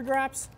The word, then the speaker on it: Grap: like these yonic super graps um it is grap by the way not grip I didn't mispronounce that uh